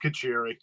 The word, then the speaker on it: Kacheri: I need to know my last name's so Italian you go a gargle with marinara to say it right it's it's just kacheri there you go you